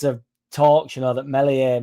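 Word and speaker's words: Meslier: H there's been loads of talks you know that Melier melier silent s will get a start tomorrow.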